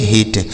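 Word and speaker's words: hit: और इसके बाद एच आई टी इसे पढ़ेंगे हिट। तो आई के अगर दो कॉन्सोनेंट के बीच में आई लिखा हो तो उस आई का उच्चारण छोटी ई की मात्रा होता है।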